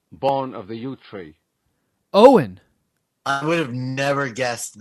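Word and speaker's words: Eoghan: word it means born of the yew tree Owen I would have never guessed that that was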